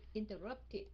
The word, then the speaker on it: interrupted: Yeah, tại cuối cùng nó là âm T, interrupt, RUPT. Right, so mình sẽ phát âm thành tiệt, interrupted.